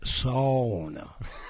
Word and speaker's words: sauna: We're taking sauna about 3 or 4 times a week, and it's the best thing for these aching joints. Okay, I know you're not Finnish. It's pronounced sauna. Sauna.